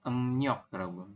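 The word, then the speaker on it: 음력: kalimatnya dari em rok tulisannya kan emriok ya tapi nanti teman-teman membacanya bukan em R berubah menjadi em y Iya betul ya jadi ngin yo kemudian diakhiri dengan giok di akhir dibaca k emnyok nih ya dibacanya emnyok seperti itu Sampai sini bisa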